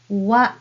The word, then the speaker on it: は: The first letter ha can be pronounced as wa when it is used as a particle in a sentence.